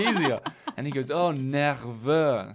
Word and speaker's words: nerveux: I was nervous, but the way I pronounced it at the time is I said 9 heures, Oui. as in like 9 o'clock. Okay. 9 heures. Okay. Right? Instead of nerveux.